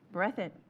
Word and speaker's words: Breathitt: Whereas during the evening of July 27, 2022, a large rainstorm struck southeastern Kentucky, affecting, is it Breathitt? How do you pronounce that? Breathitt. Okay.